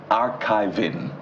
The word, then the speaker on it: Archivi.ng: He's the Executive Director, Archivi.ng. That's how to pronounce it.